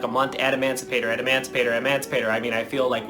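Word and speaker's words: Adamancipator: it only took me what like a month add Emancipator and Emancipator Emancipator I mean I feel like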